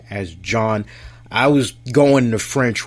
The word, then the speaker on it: Jan: I have a friend named John, and it's spelled J-A-N. It's like how you would say Jan, but it's John. So, not John, John. And so there's a French twist to it.